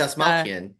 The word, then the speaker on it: Dastmalchian: Oh, He's Dastmalchian. Yeah, David Dastmalchian, yeah. Dastmalchian.